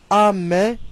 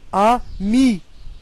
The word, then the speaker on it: ami: On ne prononce pas amé, mais ami. On insiste sur le I.